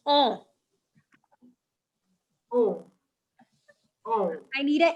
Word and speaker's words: on: It's not O, it's on.